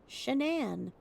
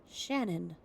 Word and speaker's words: Shanann: He said that she pronounced her name Shanann, but her mom pronounced it Shannon.